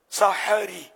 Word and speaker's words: سحری: تو اردو زبان میں لفظ سحری ہے, یعنی ہا جو ہے اس پر زبر ہے, سحری, سحری, سحری.